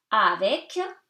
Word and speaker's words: avec: Avec, you pronounce the C, avec. Plaisir.